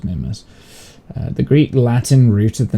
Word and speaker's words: Mimas: Zeus and the Olympians the customary English pronunciation is mimas the Greek Latin rooted